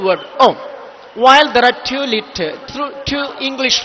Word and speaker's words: Om: So you could have seen A, U, A, U, So you have seen that there are three letters that form the syllable of Om. It is a unisyllable word, Om.